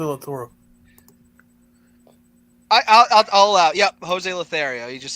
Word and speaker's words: Lothario: Lotoro. Jose Lotoro. I'll allow. Yep, Jose Lothario. You just said the name wrong.